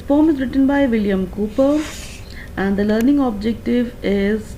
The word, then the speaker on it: Cowper: William Cooper was born in 1731 and he lived till 1800. The surname is pronounced as Cooper, but it is spelled as Cowper.